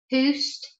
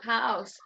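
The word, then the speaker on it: Houzz: Yeah, so Samantha again just asking Fiona, what are your thoughts on, and I'm going to pronounce this wrong, Houst, Houst? H-O-U-Z-Z. Oh, house.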